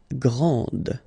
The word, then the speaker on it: grand: This final D is not pronounced.